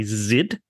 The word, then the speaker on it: Zid: And Monster Mash, with art and colors by Zid. I believe that's how you say it, Z-I-D.